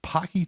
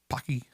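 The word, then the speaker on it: Paqui: was a big thing going on was it pocky trip chips or it was like a ghost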